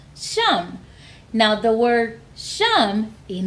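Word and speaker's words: שם: Shem in Hebrew is pronounced Sham.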